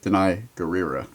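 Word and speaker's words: Danai Gurira: for the last episode i've been telling you how to say it for weeks deny right and look i put it in parentheses how to pronounce it actually actually deny guerrero so episode one black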